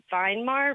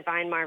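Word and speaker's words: Weimar: recently discovered um the vinar Republic v m a r are you familiar with them yeah it's actually spelled with a W it's pronounced as a v in German that's what I meant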